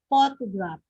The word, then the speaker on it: photograph: Okay, is it photograph or photograph? Okay, the correct answer is letter A, photograph. So the stress is in the first syllable.